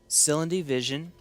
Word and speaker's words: Silundi Vision: Silundi Vision. That's how you pronounce that.